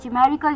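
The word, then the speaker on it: chimerical: आई एम ई आर आई सी ए एल न्यूमेरिकल ये एक adjective है जिसका मतलब मैंने बताया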